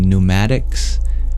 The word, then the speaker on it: pneumatics: root in Greek and in English we no longer pronounce the P it becomes silent the prefix that we use in pneumatics or pneumatics you can